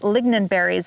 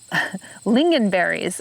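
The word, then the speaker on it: lingonberries: vaccinium vitus idea and i was saying it incorrectly so thank you those for those of you who are telling me that my pronunciation was was off i was calling it lignan berries it's lingenberries i was i was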